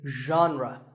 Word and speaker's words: genre: would you say it the correct pronunciation is genre pay attention to the first sound it's like but you have to put your voice into it genre genre next up is actually